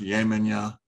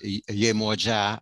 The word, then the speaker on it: Yemoja: that you just mentioned, is it also pronounced Yemenya? No, that would be, there is another one called Yemoja, or in Yoruba pronunciation, Yemoja or Yeye Omo Eja, Yemoja.